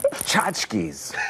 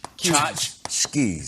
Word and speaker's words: tchotchkes: T is silent. Tchotchkes. So like chotch, Chotch. but with keys.